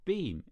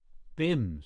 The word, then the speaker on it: Bim: manikov's eyebrows Rose your beam is that how you pronounce it Bim said the other b-i-m Christian name Cherry Cherry